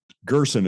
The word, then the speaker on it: Gerson: pre-record is it Gerson jerson how do you say your name Gerson it's just like person except with a G I got it right